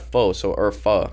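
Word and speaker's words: phở: Isn't it pho? It's pronounced pho actually. I've really never had it.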